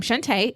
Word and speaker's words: Shunta: So I'm Shunta. It's pronounced Shunta, even though when you look at the spelling of it, a lot of people think it's Shunta.